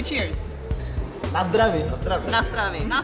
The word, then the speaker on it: na zdraví: Na zdraví, na zdraví.